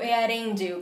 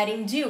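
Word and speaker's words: Eärendil: com um cara chamado earendil que só de falar o nome me arrepio e só ontem eu descobri que se pronuncia é a Índia e não é alendil mas com Brasileiro de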